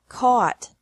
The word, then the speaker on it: caught: buy bought bought catch caught caught fight fought fought seek sought sought teach taught taught think thought thought remember that the g is silent in these verbs verbs with three different